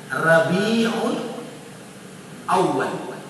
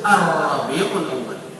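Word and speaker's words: Rabiul Awal: alif lam assafar kemudian berikutnya adalah Rabiul Aal tidak boleh disebut arabiul Aal kerana Dia anab kemudian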